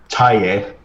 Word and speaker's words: Taje: Taye. Taye. Because the J is a Y. Sure. Yeah. Because German. Taye.